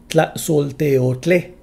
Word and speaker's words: Tlaxolteotle: If the speaker is male, the stress is on the added suffix e. Tlaxolteotle. This is called the vocative form.